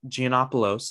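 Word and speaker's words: Gianopulos: that the paramount picture ceo and chairman jim gianopolos i believe is how you pronounce it would hand over control of the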